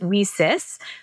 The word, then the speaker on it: WiCyS: and we pronounce it Weis like we sisters because we're a global cyber Sisterhood so our mission is